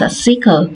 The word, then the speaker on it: SQL: to master is SQL structure query language also pronounce a CLE this language is used to manage and manipulate